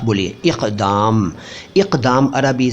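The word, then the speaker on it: اقدام: my Hindi my Urdu इक दम यह इक दम नहीं है इक दम है क क क बोलिए साफ बोलिए इक दम इक दम अरबी से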